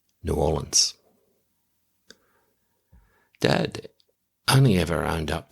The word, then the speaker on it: New Orleans: By the way, you can always tell if someone has ever been to New Orleans because they pronounce it the right way. New Orleans.